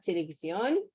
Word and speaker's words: televisión: So miran la televisión. Right, with the accent on the O.